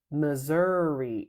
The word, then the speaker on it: Missouri: Tak e Texas great Missouri is not because there's a pickup in there m is the pickup to zi Missour right Kansas works great but